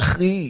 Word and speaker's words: Chery: Chery. Oh, stop it. It's Get Haitian. some R's in there. Hey, you gotta say it like that because it's Haitian.